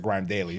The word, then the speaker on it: GRM Daily: I used to I I pronounce it Grime daily that's the OG I Grime I used